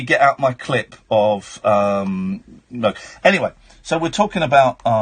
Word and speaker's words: Moog: It's definitely pronounced Moog. Don't make me get out my clip of, Moog.